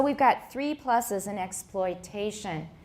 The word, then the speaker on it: exploitation: Note that the difference in rhythm between explanation and exploitation is that the second syllable of explanation has a reduced vowel, but this syllable in exploitation has a full vowel.